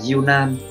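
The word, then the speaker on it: 柔軟: Cách đọc của nó là yunan, yunan là từ yunan se đấy, hay dùng, rất là hay dùng luôn.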